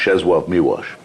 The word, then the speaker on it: Czesław Miłosz: That's so you actually pronounce, it's spelled Czesław Miłosz, but it's pronounced Czesław Miłosz.